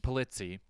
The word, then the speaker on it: Polizzi: Polizzi.